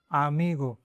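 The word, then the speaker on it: amigo: आमीगो मैंने हिंदी में इसलिए किया है कि अगर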